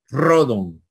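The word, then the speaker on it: ῥόδον: así en castellano rojo Y tenemos una palabra rodon verdad rodon ya les dije que una letra en mayúscula no se puede colocar ni la situación ni los Espíritus encima deben ser trasladados al lado izquierdo Entonces rodon es rosa La rosa de Aarón creo que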